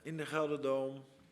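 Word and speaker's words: GelreDome: Yeah, I'm just happy to be back in the Gelderdome.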